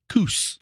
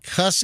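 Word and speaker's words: Kuss: fans it's actually pronounced Coos oh geez really so I mean you know Seth so it's Coos like goose k-u-s-s is not cuss it's Cush I don't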